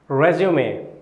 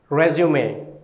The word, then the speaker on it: résumé: Let's talk about the fourth word, résumé. Résumé. How do we pronounce it?